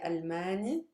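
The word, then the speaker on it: ألماني: arabic we for nationalities we don't stress the last syllable we stress the one before it so in colloquial i would say almani but in msa is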